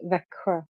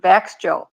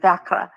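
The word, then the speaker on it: Växjö: it it's very hard for foreigners but it's pronounced VRA thank you that we were in that City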